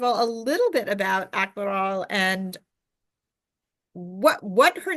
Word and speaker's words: Akmaral: I am here today with Judith Lindbergh, the author of it's AKMARAL, is how you pronounce it? AKMARAL. AKMARAL.